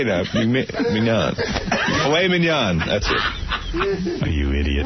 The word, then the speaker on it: filet mignon: So they say you can get succulent, lobster, or filet mignon.